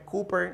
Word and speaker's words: Cowper: Yo sé que se escribe Cowper, pero aunque se escribe así, la pronunciación correcta es Cooper.